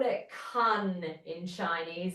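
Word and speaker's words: cun: They call it con in Chinese. It's spelled cu n.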